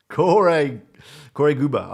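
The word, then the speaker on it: Koray Gürbüz: Corey Guba. Okay. That's spelled Koray. Gubur, yeah.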